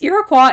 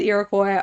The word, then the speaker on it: Iroquois: um so anyways, Iroquois and Iroquois are both like equally appropriate um pronunciations from what I can find.